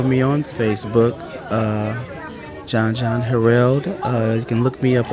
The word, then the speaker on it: Harreld: No, it's Harreld. It's actually pronounced Harreld. Okay. But it's better than when a teacher from maybe fourth or third grade pronouncing it Harfield. So if you say Harreld, you're right there.